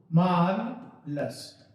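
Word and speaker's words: marvelous: Correct pronunciation क्या है मैं लिख के दिखा देता हूं, मार्वलस। अरे जिसे मार्बल बोलते हैं ना, मार्बल, वैसे ही उसमें सा लग रहा है, लेकिन वो मार्बल होता है, यहां बोलेंगे मार्वलस।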